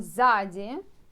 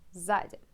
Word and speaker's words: сзади: Next one, сзади. It means behind. Behind. So, сзади. Сзади. You know, sometimes I know so difficult to pronounce 2 letters. S, Z, if they're together.